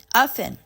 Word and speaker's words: often: this word sorry we we need to pronounce this word as ofen like that and then the third